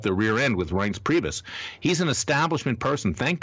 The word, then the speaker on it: Priebus: It came apparently from Rece Priebus. Okay. Who whose name rhymes with Prius.